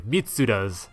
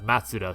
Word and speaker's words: Mitsuda: It was pointed out to me that I had accidentally mispronounced Yasunori Mitsuda's name as Matsuda, so there it is, as a Secret of the Forest from Chrono Trigger, composed by Yasunori Mitsuda.